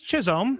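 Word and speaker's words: Chisholm: Jazz, how do you pronounce that? Jazz Chisom.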